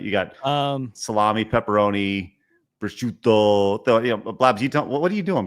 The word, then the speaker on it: prosciutto: Prosciutto. I don't know why you guys put a Z in it. There's no Z. Prosciutto.